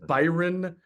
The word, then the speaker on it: Byron: The Eagles claimed off waivers a defensive tackle from the Raiders named Byron Young, Byron.